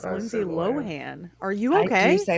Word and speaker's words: Lohan: I mean, how do you pronounce Lindsay Lohen? It's Lindsay Lohen, not Lindsay Lohan. It's Lindsay Lohan.